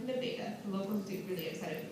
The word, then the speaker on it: Nevada: Nevada, yes, it's spelled like Nevada, but pronounced like Nevada, the locals get really excited to mispronounce it,